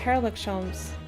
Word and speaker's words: Herlock Sholmes: It's actually just Herlock Sholmes. He's English. Ah, he's like hair.